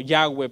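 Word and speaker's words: Yahweh: que es impronunciable que más o menos suena como yagüe pero que no se puede pronunciar porque está compuesto solamente de consonantes y no tiene vocales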